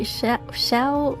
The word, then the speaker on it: Xiao: So the way you pronounce X is kind of like a mix between the sh sound and the H sound. So you kind of say sh and then you slowly